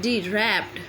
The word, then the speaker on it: wrapped: तो यहाँ पे W साइलेंट है, यहाँ W लिखा तो जाएगा लेकिन बोला नहीं जाएगा। WRAPPED रैप्ड।